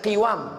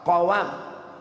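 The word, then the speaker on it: قوام: Wal qawam bi fathil qaf, jangan baca qiwam tapi baca fathah qawam, artinya ma yaqumu bihi halul insan, usaha, income, pemasukan yang bisa melanjutkan hidup.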